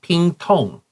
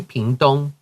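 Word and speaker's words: Pingtung: You don't have to say pingtong, say pingdong.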